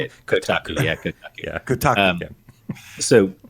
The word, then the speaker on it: Kotaku: Did you just pick up on that on that pronunciation? That's how you say it. Kotaku.